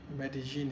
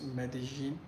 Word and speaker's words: Medellín: how they pronounced Med medene is very unique yeah so apparently Double L in Spanish here it's a j sound so it's medin I think hope I